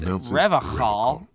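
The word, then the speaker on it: Revachol: That's Revocal. With yeah. a hard K, unlike other people. You said Revocal? I like to pronounce it the hard way. The old way.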